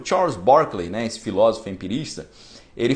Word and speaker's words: Berkeley: Escreve Berkeley, né? Mas lá eles falam Berkeley.